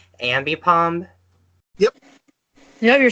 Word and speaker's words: Ambipom: hope I'll be I'm saying its name right ambipom yep no you're saying it right yeah I